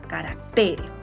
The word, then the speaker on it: caracteres: Pero si yo lo menciono en plural, será caracteres, ¿verdad? Y acá ya va a estar la sílaba tónica.